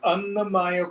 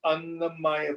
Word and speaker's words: Annamaya: Why do we call it the Annamaya Kosha? The food, Maya here with a short A means comprised of. Annamaya means comprised of food.